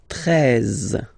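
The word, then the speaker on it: treize: Then now if you combine this E and E, you get the sound E, really open. 13, 13. Final E, as usual, not pronounced.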